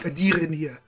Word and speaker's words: Adirdir: Adirdir. I was almost proud of how I said that then. I almost got a Khajiit name right, I think. Adirdir. Got to roll your R's a little bit.